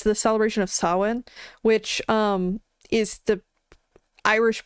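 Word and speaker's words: Samhain: It's it's around it's like saw it's the celebration of sawin which um is the Irish pronunciation of Sam Hayne if you've seen Sam Hayne which is essentially just a harvest festival.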